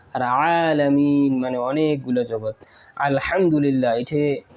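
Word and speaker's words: الحمد لله: মানে অনেকগুলা জগত আলহামদুলিল্লাহ এখানে আপনারা হাটা হাতি অবশ্যই আপনারা এটা ছোট হা উচ্চারণ করলে এখানে অর্থ চেঞ্জ হয়ে যাবে অবশ্যই আপনারা হা উচ্চারণ করবেন আর যদি আপনারা ছোট হা উচ্চারণ করেন তাহলে হয়ে যাবে সমস্ত নিন্দা আল্লাহর জন্য নাউজুবিল্লাহ এটা আমরা শিখে নেব।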